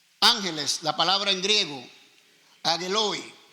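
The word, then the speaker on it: ἄγγελοι: Dice ángeles, la palabra en griego agueloy. Agueloy no es ángelos, como algunos dicen.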